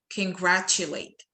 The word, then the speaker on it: congratulate: مش بنقول con ولا بنقول con، إحنا بنقول congratulate. تمام؟ دي أول حاجة. تاني حاجة في number 4 هنا في ناس بتنطق الكلمة دي بطريقة غلط شوية.